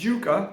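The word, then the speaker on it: yuca: Maybe you see, I pronounce it yucca, that's how they pronounce it here in Panama.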